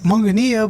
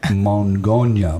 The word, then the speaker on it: Mongonia: and they were like, Mongonia, blah, blah. I was like, oh my God. It's awesome, though. I'm like, you put the wrong emphasis on the wrong syllable. Mongonia.